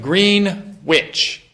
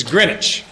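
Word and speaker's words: Greenwich: famous green witch grenwich you're saying a uneducated American pronunciation of green witch how do you how do you pronounce presscot so it the proper way to pronounce green witch is greinwich and we uh True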